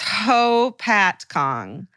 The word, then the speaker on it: Hopatcong: I went to high school in a small, literally nothing happens town in New Jersey called Hopatcong. And then it says, go ahead, try to pronounce it. It's Hopatcong.